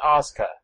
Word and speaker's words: Asuka: It turns out her name is pronounced Asuka. There's no use of that U at all, other than to just be there to confuse everyone.